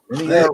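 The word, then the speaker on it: MiniArt: Mini art rhymes with multi-part.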